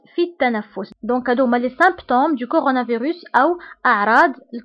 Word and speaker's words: symptômes: انتبهوا هنا بي كنطقوها كنقولوا les symptômes Donc les symptômes du coronavirus sont يعني اعراض